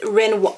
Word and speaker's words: Rynn: um I'm really excited this is Ren Ren Wat I believe that's how you pronounce it R YN n Ren watches so what